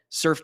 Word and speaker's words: SRFE: out the tool is called surf and it's spelled srfe it's a Chrome extension